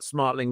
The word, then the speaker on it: Smartling: Bryan, why don't you tell us what Smartling does and your actually, have I got Smartling right? Am I saying it right? Yes. Yeah. No, you're right.